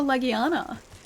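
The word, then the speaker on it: Legiana: Hunter creatures uh because people are laughing at me for calling it a Leana and that's exactly the way that you pronounce it it's called a Leana uh so it's it's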